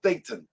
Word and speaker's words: Thetan: It's pronounced Thetan. Thetan.